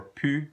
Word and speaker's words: plus: But when it's pronounced pu, when the L is silent and the S is silent, it means no more, okay?